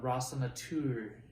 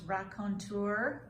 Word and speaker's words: raconteur: we're both storytellers uh Ross on a tour as they would say I think that's pronounced raconteur I've heard it both ways um people say when